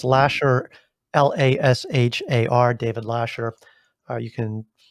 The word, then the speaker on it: Lashar: if you know that my last name is spelled with an AR so it's Lasher l-a-s-h-a-r David Lasher you